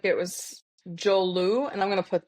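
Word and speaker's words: Joulu: In Finland it's spelled j o u l u.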